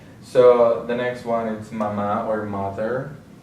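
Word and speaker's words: mamá: So the next one is mama or mother. We have the accent, the written accent on the last syllable, so that's what we're going to stress.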